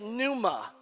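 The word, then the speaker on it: πνεῦμα: the Greek word 4151 which is said Numa Numa say Numa it means properly Spirit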